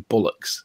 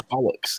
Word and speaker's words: bollocks: They start pronouncing bollocks as in bullocks, and then you say it's bollocks, and then they end up saying bollocks, and it's like, no, it's bollocks. There's an O there, bollocks.